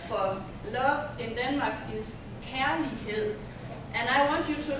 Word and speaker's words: kærlighed: An A and E put together, pronounced like A. Yes. And the word is, you can repeat after me, care. Care. Lee. Lee. Hed. Hed.